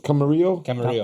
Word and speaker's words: Camarillo: It's Camarillo.